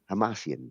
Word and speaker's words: Hamasyan: And Tigran Hamasyan, I, Tigran Hamasyan, Hamasyan? Hamasyan. There you go. I actually Googled it to see like how do you pronounce it, but you got to say it a couple times.